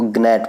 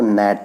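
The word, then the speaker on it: gnat: जैसे आप पढ़ेंगे तो उसको ग्नैट पढ़ेंगे, लेकिन ग्नैट नहीं, इसको नैट पढ़ेंगे।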